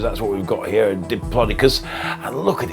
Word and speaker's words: Diplodocus: rangers so up to how long was the diplodocus that's how you say it the diplodocus now was it a up to 15 meters